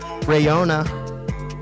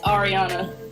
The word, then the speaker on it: Ariana: and your name is rayona did I say it right no you said it no you didn't say it right no it's not riona it's Ariana ar Ariana double taping